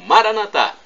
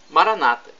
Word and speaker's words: Maranata: de Jesus eu clamo Maranata ou como dizem os nossos irmãos evangélicos ou protestantes Maranata com a tônica na penúltima sílaba nós católicos colocamos a tônica na última não importa a pronúncia porque